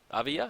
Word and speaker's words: Oviya: Oviya? I think Oviya is how you say it.